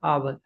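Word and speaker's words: hour: ठीक है, आवर, ये एच साइलेंट होता है इसका।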